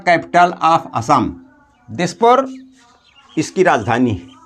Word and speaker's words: Assam: इज the capital of असम Dispur इसकी राजधानी असम की असाम लि लिखा होता है उच्चारण में लेकिन असम के नाम से हिंदी में दिखाया गया है तो दिसपुर इज द